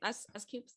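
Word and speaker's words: S.Coups: And so S Coops, is that how you say his name? S Coops.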